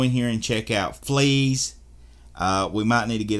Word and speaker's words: Fleeze: It's called Fleeze. You know, it's not spelled like the fleas on the dog, but Fleeze, F-L-E-E-Z-E.